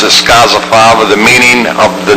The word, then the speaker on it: Scozzafava: And the only thing I'm going to leave with is that Scozzafava, the way you pronounce it, Scozzafava, the meaning of the name means bean sheller, I thought it was bean picker.